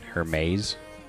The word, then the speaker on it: Hermes: I mean, Hermes, that's how you say it.